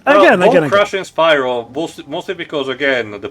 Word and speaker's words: Spyro: memo that you know Spyro uh you know um name is actually pronounced that way with the Y. So instead everyone you know in that original trilogy keeps calling him Speedo and not even just